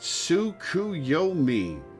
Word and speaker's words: Tsukuyomi: It's pronounced Tsukuyomi, correct?